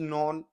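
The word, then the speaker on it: known: ए मैन इज नोन। यहां पे के साइलेंट हो जाता है। नॉन बोला जाता है इसको।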